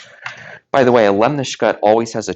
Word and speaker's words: lemniscate: It's spelled a little more lemniscate, but it's pronounced lemniscate.